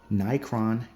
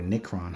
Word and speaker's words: Nicron: This is the Nicron K11, or Nicron, however you want to pronounce it.